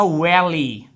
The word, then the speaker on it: will he: ही, तो ये बनेगा वैली। What is वैली? अक्सर अंग्रेज क्या कहते हैं, well ही को प्रोनाउंस करते वैली।